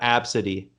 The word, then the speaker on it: Abcde: a b c d e and apparently you pronounce that absidy but a grown woman named her child abdce